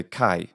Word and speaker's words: χαῖρε: talk about kite Chi we just say Chi and that is the beginning of the word in the ancient pronunciation now the modern pronunciation of the letter Chi it's the name of the letter itself is heat and it has become